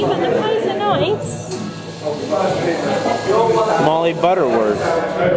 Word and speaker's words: Molly Butterworth: What is the proper way to say your name? It's just Molly Butterworth. What? Molly Butterworth, it's softer.